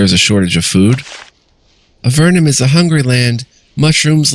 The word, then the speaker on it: Avernum: war with the Nephilim it could also be pronounced avernum never know I like a vernum though anything I can